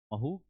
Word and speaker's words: Mhow: महू, इसीलिए उसकी spelling MAHU ना होके HOW है, मिलिट्री हेडक्वार्टर ऑफ वॉर, ठीक है, इसीलिए कहा गया।